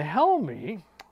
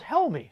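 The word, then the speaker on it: Jaume: Probably didn't, but I went to one of those like pronounced names dot site and it told me his name was Helmy, so maybe I got it right.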